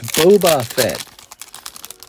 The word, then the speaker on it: Boba Fett: I like calling them Bobo as well. I had a friend I used to mispronounce Boba Fett's name and I had a friend who would get really angry over that. It's Boba Fett.